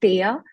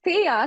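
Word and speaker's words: Theia: there was apparently a mars-sized uh body called Thea which impacted how do you spell it how do you spell it t-h-e-i-a t-h-e-i-a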